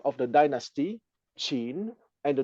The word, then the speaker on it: Qin: family name of the aristocrats having created the Chin Dynasty chin in the system of transliteration called ping Ying p i n y i n is the name of the dynasty chin and the name of the family having created